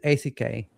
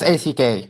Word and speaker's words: ACK: ACK, or is it ACK? It's ACK, and some people call it ACK, and it's fine, but we prefer ACK. Yes. Okay. So So, go so ahead. Yeah, so ACK is another capability that